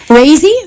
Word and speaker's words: Raisy: with my name so rzy there you go well that's okay I when I first saw her I I I said hi Daisy and she went oh yeah it rhymes with Daisy it's crazy so there